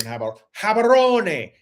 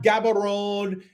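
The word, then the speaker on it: Gaborone: But no, I often drink the water here in Habaron. It's not Gabberon. It's not Gabberon. It's habaron because in satswana the g is pronounced as a habaron.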